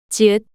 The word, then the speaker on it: 지읒: ieung, 이응, ieung, 이응, ieung, 지읒, The name of this consonant is 지읒, 지읒, the same j sound you make when you pronounce jelly.